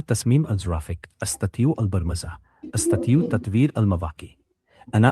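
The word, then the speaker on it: برمجة: Okay, अना others फी मदरसत रहीम अस्ततियु तसीम अल गवाफिक अस्ततियु अल बरमजा अस्ततियु तत्वीर अल मवाकी। अच्छा, ये जो कोडिंग है इसका बरजा मीन है या बरमजा, इसे मतलब प्रोनाउंस किस तरह करना है?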